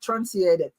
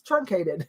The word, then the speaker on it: truncated: It's not trunciated. It's truncated.